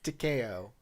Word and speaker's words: Takeo: details that came from Takeo. Sorry, apologies. I'm quite the tacky guy. I keep mangling the names. Takeo. The second syllable is always de-stressed.